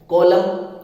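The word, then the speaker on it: column: कॉलम, आपने सुना होगा किसी चीज का कोई भाग, कॉलम, कोई आप रजिस्टर होता है उसमें बनाते हैं कॉलम, है ना, तो इसमें भी देखो एन साइलेंट है।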